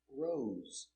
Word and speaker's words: rose: Rise in present, in the past, rose. And the participle, risen. All words have S between two vowels. Pronunciation with a Z, zebra sound.